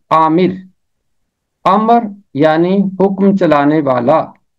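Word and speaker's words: آمر: ہے حکم چلانے والا۔ الف مد آ میم زیر رے، عامر۔ امر یعنی حکم چلانے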